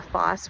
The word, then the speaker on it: Phos: Force, P-H-O-S, the FOSS, which is actually how you pronounce it.